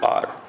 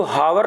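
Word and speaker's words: hour: कि एच ओ यू आर, इसको हावर नहीं पढ़ा जाता है, क्या पढ़ते हैं हम, आर, ओके, आर।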